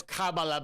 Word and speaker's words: Kamala: would just pivot it's by the way it's Kamala by the way um excuse me excuse me